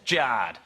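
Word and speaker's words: Jarred: Jared is spelled J-A-R-R-E-D. Thanks, Mum and Dad, that's Jard.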